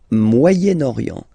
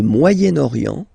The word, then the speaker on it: Moyen-Orient: So it's interesting here because normally if you would have only this word here, you would pronounce it moyen, moyen, okay? But then as you've got this vowel after, okay, you get to make the liaison between the two, le Moyen-Orient, Moyen-Orient, okay?